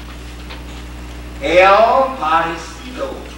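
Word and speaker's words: El Parecido: And mother gave her pronunciation. El Percilio. Sounds pretty close to El Parisina, doesn't it? Now, of course, my Spanish is not that good.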